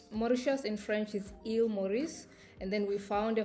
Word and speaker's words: Maurice: So if if you if you know French you would understand that Mauritius in French it's St. Morice.